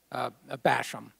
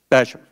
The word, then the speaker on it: Basham: Basham, did I pronounce that right? Basham. Basham, thank you very much.